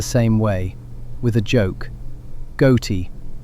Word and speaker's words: ghoti: Ghoti, spelled with the GH from enough, the O from women, the T from nation. Say it correctly, and you've said fish.